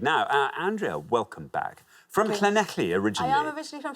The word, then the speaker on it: Llanelli: So well, hello, Llanelli. Llanelli, hello. We've got Llanelli in a few times Well now.